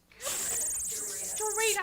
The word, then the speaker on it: Dorita: The first person is Greta Brown. Dorita, I'm sorry. I know your name. Why did I say it wrong?